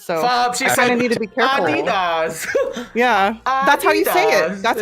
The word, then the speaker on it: Adidas: like high-profile clients so need to be careful Adidas yeah that's how you say it that's how